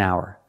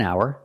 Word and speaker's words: hour: is not stressed an hour an hour remember the H is silent an hour so together an hour